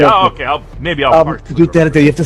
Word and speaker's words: Duterte: It's Duterte, by the way.